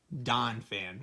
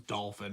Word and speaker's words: Donphan: well could have been Donphan. That's the I was mispronouncing it. I thought it was Dolphin, but I knew it was probably Donphan or something like that.